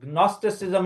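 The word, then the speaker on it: Gnosticism: اور وہ بدعت کی یہ تھی کہ وہ جو گنوسٹسزم ہے، جی سے کر رہا ہوں کیونکہ جب آپ اس کے سپیلنگ کریں تو جی کو تھوڑا سا سائلنٹ کر کے، لیکن یہ یونانی زبان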